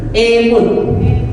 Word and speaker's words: imut: harus ada kata imut imut bukan imut itu emut bacanya imut imutemutemut i mutut